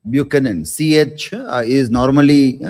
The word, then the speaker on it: Buchanan: It is pronounced as not ch but c sound not b butenin but bucan.